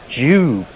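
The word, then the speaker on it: Dube: That the Jersey Jingler says, sorry to burst the doob bubble, but Dion Dublin pronounces it Jube.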